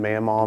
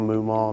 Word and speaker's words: Mughmaw: can call me any name you want maal mumal mimal anything it's spelled very interesting so I always get anything